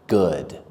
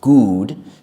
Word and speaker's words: good: Some students mispronounce it as good because sometimes two-letter O's can make the sound oo, like in the word cool. But in this word and a few other words, they don't. They make the sound good.